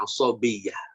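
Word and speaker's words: عصبية: Ini dibacanya asabiyyah.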